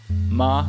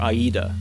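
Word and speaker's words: 間: The second character can be pronounced two ways, ma or aida, meaning either space or between.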